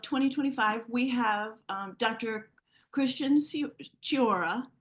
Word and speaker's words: Ciora: Christian Ciora, is spelled Ciora, but you say it with the ch sound.